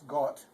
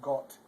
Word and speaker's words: Gott: Gott, this isn't Gott, it's Gott, because they pronounce an O with like an O. O, not like ah.